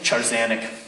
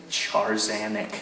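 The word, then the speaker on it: Tchar'zanek: How do you say that again? Tarzanic. Say it again. Charzanic. Good. The apostrophe is important.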